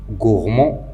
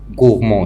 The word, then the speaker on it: gourmand: Par exemple, gourmand, comment je vais connaître que gourmand va se terminer par D? Donc, on doit chercher des mots de la même famille qui ont le même radical. Donc, gourmand, c'est un adjectif masculin.